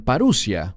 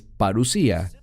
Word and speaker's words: parusía: Algunos la pronuncian paruusia, pero es parusía.